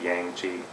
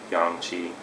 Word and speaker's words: yang qi: You might pronounce it yang qi, but yang qi.